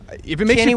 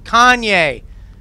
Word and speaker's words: Kanye: Kenny West? What's his name? Kanye. Like the pepper.